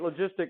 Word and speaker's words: logistic: you remember logistic growth we don't abbreviate logistic log right because we read that as log this is the soft G sound right logistic logistic growth